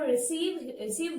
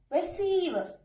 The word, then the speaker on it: receive: We have received word here. We have to stress on syllable number 2 as it is a verb. So, we have to stress on this part. Receive.